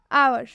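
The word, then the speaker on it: hour: आवर, आर में भी हम एच नहीं पढ़ेंगे क्योंकि एच के बाद से ओ आ रहा है, इसलिए इसमें एच साइलेंट होता है।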